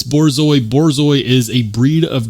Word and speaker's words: Borzoi: And yes, it is pronounced Borzoi. The first time I saw this, I thought maybe it was bourgeois or like bougie. No, it's Borzoi.